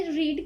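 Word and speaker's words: read: अब हमने रीड की थर्ड फॉर्म क्यों नहीं लगाई? देखें, रीड की जो थर्ड फॉर्म है वो रीड ही है, लेकिन इसको प्रोनाउंस जो है वो रेड करते हैं।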